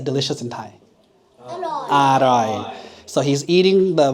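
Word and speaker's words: อร่อย: Aroy.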